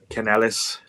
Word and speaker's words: Canales: And Dave Canales, I like when he does the real Spanish pronunciation of his voice. Canales.